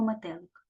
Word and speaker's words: метелик: ручку під підборіддя і проговорюємо слово метелик ме лик так скільки складів три молоці тепер визначаємо наголошений склад гукаємо це слово метелик куди падає наголос на другий склад значить другий склад у